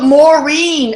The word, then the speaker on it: Maureen: How do you spell it? It's Maureen Moss, M-O-S-S. Oh, Maureen, M-A-R-I-N-E? E-E-N. M-A-R-E-E-N. Oh, Maureen.